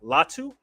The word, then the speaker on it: Latu: And the tight end, Cameron Latu.